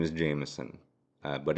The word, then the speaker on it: Jamison: Well, since spelling Jameson with an I is more uncommon, people don't know how to pronounce the I. They actually over pronounce it. So, my whole life they go, "Oh, Jamison." No, it's just Jameson.